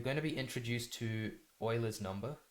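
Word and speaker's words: Euler: to be introduced to Oiler number this is pronounced Oiler I know it's weird um and his number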